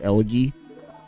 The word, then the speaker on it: Elegy: I keep wanting to use call it Elegy. Soft G.